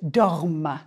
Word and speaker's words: dorment: Nous dormons, vous dormez, il ou elle dorment. The ENT is silent, but it makes you pronounce the final consonant of the stem.